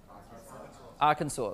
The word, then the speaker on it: Arkansas: How do you say that state? Arkansas. So I said it right. So doesn't it end with an S?